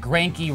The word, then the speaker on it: Greinke: Martinez, Zack Greinke, yikes, how do you think he is playing out? Look, Zack Greinke rhymes with Yankee, and maybe that might be a good alternative.